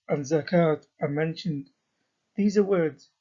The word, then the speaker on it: zakat: In Arabic, both these words have a silent vowel, in that they are not pronounced, indicated by the red arrow.